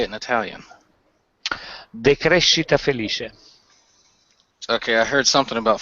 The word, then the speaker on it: decrescita felice: Decrescita felice.